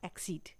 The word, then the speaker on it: accede: चलिए अब देख लेते हैं दूसरे वर्ड को, जिसका प्रोनाउंसिएशन तो सेम है लेकिन स्पेलिंग और मीनिंग अलग है।